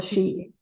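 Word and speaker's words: sidhe: They called the echi or shei, but it's spelled sh h i e because it's gaic, but that's what they were called.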